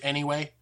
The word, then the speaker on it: NEWay: If you go on Facebook, it's NEWay, but we pronounce it anyway.